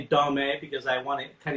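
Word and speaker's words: domme: personally said this i i've said dame but the fact is this is really pronounced don but when you spell it it's d-o-m-m-e um kind of like femme which okay mme so um so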